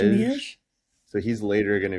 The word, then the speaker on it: Jumièges: Jumièges. Jumièges. Jumièges.